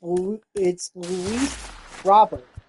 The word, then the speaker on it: Luis Robert: Luis Robert. Or Luis Robert, actually. I keep saying it wrong. It's Luis Robert.